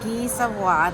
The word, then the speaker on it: Guy Savoy: Special at Guy Savoy, that's how they told us to pronounce it, is a brioche and coffee for $12.99 or a pastry and coffee, which he got for $11.99.